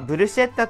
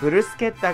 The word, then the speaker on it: bruschetta: 英語ではブルシェッタという人もいますが、ブルスケッタが正しい発音ですね。